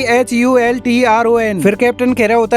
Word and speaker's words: Hultron: अल्ट्रॉन बताता है कि HULTRON। फिर कैप्टन कह रहा होता है कि क्या इसे अल्ट्रॉन की बजाय अल्ट्रॉन के रूप में नहीं पढ़ा जाता? अल्ट्रॉन गुस्से से कहता है कि H साइलेंट है, यह H ऑफ अल्ट्रॉन है।